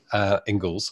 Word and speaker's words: Ingalls: It's going, yeah, go and speak to Karen Ingalls, and you know, Ingalls, I should say, is how to pronounce it.